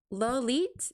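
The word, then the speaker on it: Lawliet: I how do you pronounce his his lolit aka Ry Zaki? Lit Lit like it's like Juliet except except it replaced the Juliet the jewel part with Yeah, that's a crazy name.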